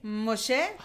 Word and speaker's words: Moshe: ¿Cómo pronuncia usted su nombre? Moshe? Moshe.